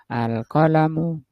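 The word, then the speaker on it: القلمُ: Lamnya enggak boleh panjang ya. Alqolamu.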